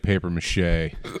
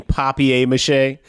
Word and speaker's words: papier-mâché: He just went up, dude, like he was made of paperier-mâché. Uh, you mean papier-mâché? Yeah, sorry. I mispronounced it.